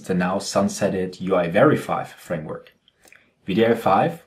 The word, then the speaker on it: wdi5: VDI5, which is spelled WDI5 but pronounced VDI5, is open source and already available on NPM.